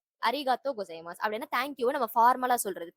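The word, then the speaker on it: ありがとうございます: இந்த வேர்டோட மொத்த ப்ரொனன்சியேஷன் வந்து அரிகாத்தோ கொசைமாஸ். அரிகாத்தோ கொசைமாஸ்.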